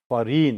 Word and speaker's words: foreign: Foreign. Here jaw, this G. Jaw sound is silent here.